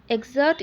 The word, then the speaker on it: excerpt: or douglas lemon following excerpt exert e x e r p t at p two silent i mean p to